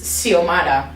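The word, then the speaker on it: Xiomara: really pretty name yeah so like the word this is siomada but it's like a s sound but x doesn't make the s sound it either i've only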